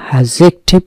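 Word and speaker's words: adjective: ডি অ্যাক্টিভেট করি এডজেক্টিভ এখানে খেয়াল করতে হবে ডি এর উচ্চারণ হবে না এডজেক্টিভ হচ্ছে একটা পার্টস অফ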